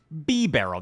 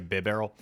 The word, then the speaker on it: Bibarel: This is Dragapult, Bibarel, that's the official pronunciation. Maybe I'll just say Bibarel, and Shadow Alolan Dugtrio.